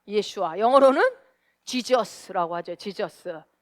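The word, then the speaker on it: ישוע: 또 예수는 히브리어로 뭐라 그래요? 예슈아라고 합니다. 예슈아.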